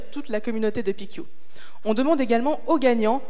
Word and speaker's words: PicU: pq pourrait marcher alors ça se prononce picchio désolé ensuite ce qu'il